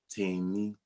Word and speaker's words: Tammy: on it's your boy Tammy on rolling out am and you pronounce the name team me let me give you